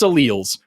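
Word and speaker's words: alleles: you're screaming about alls it's pronounced alals first just just we'll start there they're alals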